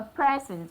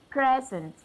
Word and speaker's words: present: Dad received a present from his friend. Dad received a present from his friend. So I stress my first syllable to show that this is a noun. Present, present.